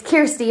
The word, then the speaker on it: Kyrsti: Just make sure you spell it right, because it's Kirsty, not Christy. The Y is before the R.